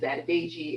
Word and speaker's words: Adedeji: I discussed this on my last name is adagi it's an African name that's pronounced phonetically just like it's spelled and I have been